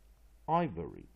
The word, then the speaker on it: ivory: not suitable with syllable ending why as e ivory ivory again I syllable VOR syllable why main stress first syllable